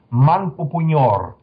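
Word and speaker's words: Manpupuner: Manpupunyor. This is the pronunciation of the place of the central Ural Mountains in Russia, because are inaccessible.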